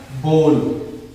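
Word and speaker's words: bowl: बहुत सारे लोग स्टूडेंट क्या करते हैं, इसे बोल ना पढ़ के बाउल पढ़ते हैं। ये बाउल नहीं पढ़ा जाएगा, ये बाउल गलत है। इस बाउल को नहीं पढ़ेंगे, इसे हम लोग पढ़ेंगे बोल।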